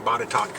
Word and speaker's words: Botetourt: And hopefully I'll get bonus points for pronouncing Botetourt correctly, because I know that's got to be one of the most mispronounced counties in Virginia.